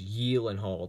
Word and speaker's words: Gyllenhaal: on the Conan O'Brien show he actually pronounced pronounce it correctly which is yiling hold that's why that's why I say that correctly